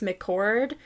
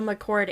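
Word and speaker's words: McChord: also remarked that the i believe it's pronounced mccord there's like an air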